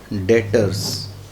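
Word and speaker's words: debtors: इसको बच्चों बोलते हैं डेटर्स में बोलना ऐसे है लिखना ऐसे बीच होता है वह साइलेंट होता है तो बोलेंगे डेटर्स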